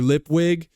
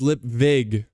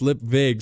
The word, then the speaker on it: Lipwig: you know he's like Mr lipwig is like no it's lip Vig it's pronounced lip Vig so for now on